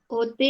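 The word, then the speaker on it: hôtel: There is no her sound in French. Like ch. Hotel. No ch, no her. Hotel. Hanji. Huh? Hotel. Very Hotel.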